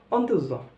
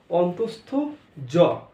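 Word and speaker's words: অন্তঃস্থ য: ও মাঝখানে এই একটা গ্যাপ গেছে, খুবই ইম্পর্টেন্ট, এটা একটু বলে রাখি, এটা কি বলি আমরা, অন্ত্যেজ, অন্ত্যেজ বলি, কিন্তু এটা কি, এটা অন্ত্যেজ নয়, অন্তস্থ জ, অন্তস্থ জ, অন্ত্যেজ নয়, অন্তস্থ জ কি, ঠিক আছে, অন্তস্থ জ, অন্তস্থ জ।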